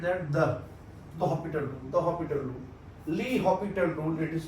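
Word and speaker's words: L'Hôpital: That's your Hospital rule, L'Hopital rule. L'Hopital rule. Li in French it is said that the Hospital rule. L'Hopital rule it is pronounced.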